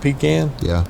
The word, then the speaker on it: pecan: If you look up the pronunciation in the dictionary of pecan, it's pronounced either way. Oh, they have both pronunciances.